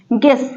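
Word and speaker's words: guess: होता है अनुमान लगाना देखिए जी आया है फिर यू आया है फिर ई आया है तो जी क्या है कंसोनेंट है ई क्या है वाउल है उन दोनों के बीच में यू आया है तो क्या हो गया यू साइलेंट गेस मतलब अनुमान लगाना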